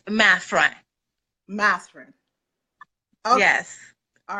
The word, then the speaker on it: Mathurin: It's actually Mathra, but I break it down for English speakers because I speak a second language. It's Mathurin. That helps people find me and be able to spell it out. So, yes. Okay. Mathhurin is perfect. That's fine because it's very easy to remember, but it's actually pronounced Mathhurin.